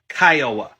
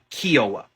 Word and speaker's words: Kiowa: tribe still exists today and yes it is pronounced kyowa not kioa kowa don't don't be that person uh in